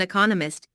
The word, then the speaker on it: economist: Smith is an economist. Notice the stress on economist. This content word has new information, so it is emphasized. There are four syllables in economist with the stress on the second syllable.